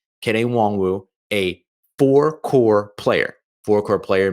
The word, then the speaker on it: Nwangwu: So you got Kene Nwangwu, which, by the way, that's how his name is pronounced, Nwangwu, like honk shoe, which is what he's